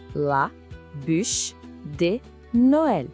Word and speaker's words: la bûche de Noël: E claro, não existe ceia de Natal na França sem essa sobremesa clássica, la bûche de Noël. A pronúncia é la bûche de Noël.